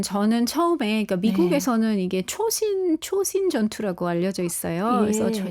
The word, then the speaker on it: 초신: 제가 모국어가 한국어다 보니까 조신은 한국말 같지가 아는데 하는 느낌이 왔는데 찾아보니까 그 당시 이제 일본이 남겨 놓은 지도를 미군이 쓰면서 그게 이제 일본어로 초신 이더라고요 예 일본 발음이 그래서 이제 미국에는 어